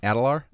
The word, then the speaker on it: Adalar: Is that how it's pronounced? Adalar?